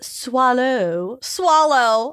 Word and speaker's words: Soileau: Artist Hodges Swallow. Oh my God. Oh. It's spelled Soileau. Oh my gosh. Swallow.